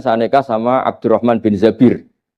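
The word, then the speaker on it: الزبير: Kemudian saya nikah sama Abdurrahman bin Zabir. Di hadis ini bukan bacanya bukan Zubair, tapi Zabir. Abdurrahman bin Zabir.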